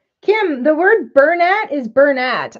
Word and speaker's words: Bernat: the word Bernat is Burnette I know it's not actually French if it was French